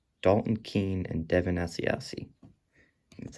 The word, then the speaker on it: Asiasi: Round 3, Dalton Keene and Devin Asiasi.